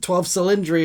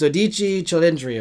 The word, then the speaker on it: 12Cilindri: called the doich chilindriki pronounce that it's 12 cylindri is what everyone's going to say but it's dichi Chri apparently and um yes uh it